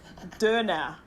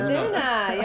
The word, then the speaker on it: Döner: It is the famous, let's see if I can pronounce this right with the umlaut, Döner. Yeah, okay. Döner.